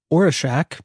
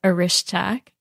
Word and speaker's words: Orischak: quite a while and I knew her as or a shack but I've just been told that apparently that's the incorrect way of saying your last name so tell us the correct pronunciation of your last name so my last name is aish tack but that was close